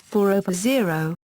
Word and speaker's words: 4/0: These names are pronounced as 4/0, 4/1, or in some cases 4/4.